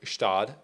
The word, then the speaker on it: Gstaad: the swiss open um and that's how it's pronounced by the way it's shtad it's interesting but it was a great tournament